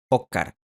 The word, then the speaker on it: Óscar: En algunos dialectos del español la S también se pierde por completo al final de sílaba, así que Oscar se pronuncia Óscar.